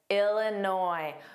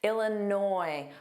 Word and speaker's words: Illinois: Illinois. Make sure you don't pronounce that s on the end. It is entirely silent. It is never pronounced. Illinois. But noi is the stress sound. Ila. Illinois.